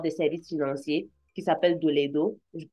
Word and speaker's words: Doledo: Il a aussi sa propre compagnie qui offre des services financiers qui s'appelle Doledo. Je prononce bien, Doledo.